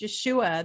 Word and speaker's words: Yeshua: i really yeah so it was it was pronounced yeshua that was how it was pronounced and people